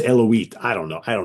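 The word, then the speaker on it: Eluveitie: is that how you pronounce it? Eloise? I used to say Eluvati, but That's how Keela that's tells me it's Eloise.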